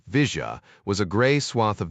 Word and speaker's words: villa: The villa Argentines pronounced it visa was a gray swath of nothingness next to the tracks on most maps.